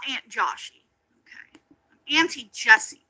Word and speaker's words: Jessie: the story of course of of uh I'm not Aunt Joshy. I got you. Uh we're not I'm not I'm not Aunt Joshy. Okay. I'm Auntie Jessie.